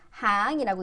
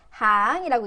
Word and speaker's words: 行: 그래서 얘를 이럴 때 줄이라는 뜻으로 쓸 때 라인이라는 뜻으로 쓰일 때는 항이라고 읽혀요. 라인이라는 뜻으로 쓰일 때 항이라고 읽히고요.